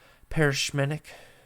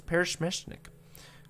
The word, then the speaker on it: Peresmeshnik: stretches across your face as you watch the parachmenic i said it wrong wait paris smash i was so close parish mishnik grows smaller as you get further away boom